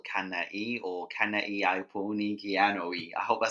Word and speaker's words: Kana'iaupuni: And then for reference, my name is Kana'i. It's pronounced Kana'iaupuni.